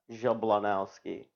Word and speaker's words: Jablonowski: Jablonowski. Jab. Low. Now. Ski.